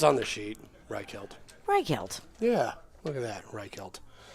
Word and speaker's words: Reichelt: This time we've got AJ Sumner and Kurt Reichelt. Yeah, we probably should have clarified exactly how to say his last name. It's on the sheet. Reichelt.